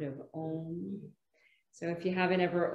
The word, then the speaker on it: Om: We actually pronounce it as it's spelled phonetically, which is A-U-M or A-U-M, and then the M, you close the lips together.